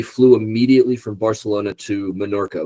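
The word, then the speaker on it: Menorca: Um, and we flew immediately from Barcelona to Monorca, which I know people are going to be like, it's pronounced Mayorca. No, Minorca is next to Morca.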